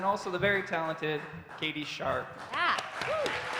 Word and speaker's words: Sharp: So everyone, please welcome Ben Castellana, and then also the very talented Katie Sharp. Yeah. Woo. We should correct the pronunciation. Shop.